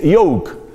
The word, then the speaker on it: yoke: yugo que es yoke la primera Pues suena como una y prácticamente y se escribe con j y y la otra en cambio Pues suena como una I como si fuera una I latina Al principio y que